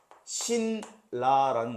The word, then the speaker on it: 신라: 그래서 신라라는 것도 우리가 실제 발음은 그러니까 고구려 백제 신라 할 때 그 신라예요.